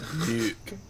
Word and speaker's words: NUC: It's nuke.